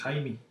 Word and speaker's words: Jaime: And Jamie's the one that writes more of the sort of science fiction side and wrote like Made Maggie and. I believe it's pronounced Jaime. Jaime. Okay. Not Jaime.